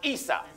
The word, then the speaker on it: Isa: Esau in Arabic is pronounced Isa.